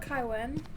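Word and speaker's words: 凯文: I'm just gonna call it Kaiwen because that's how you say it in Chinese.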